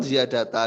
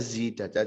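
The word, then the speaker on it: زِيدَتَا: Bacanya zidata. Jadi fi'il mabni majhul. Zida, zidu, zidat, zidata gitu. Bukan ziyadata.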